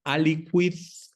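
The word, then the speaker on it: aliquid: Acuérdese que en latín cu ui u sí se pronuncia la u, no como en el español que para nosotros es muda en ese caso. Eh, entonces ali quid son dos palabras.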